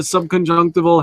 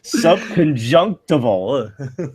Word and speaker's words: subconjunctival: when you have a subc conjunctive old Hemorrhage I can't even pronounce that still sub conjunctival yeah that's it that's it that right that